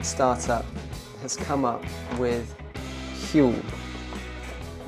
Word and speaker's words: Huel: So this year, UK startup has come up with Huel, which is, I think, meant to rhyme with fuel, but it also, rather unfortunately, rhymes with gruel.